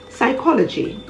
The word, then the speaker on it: psychology: him h-y-m-n condemn c-o-n-d-e-n p is silent if it appears at the beginning of a word before an s as in psalm p-s-a-l-m